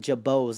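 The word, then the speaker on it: Girbaud: be rocking that with jabos like these baggy pants they're they're they're spelled grabads but they they actually pronounce as jabos I'll be wearing these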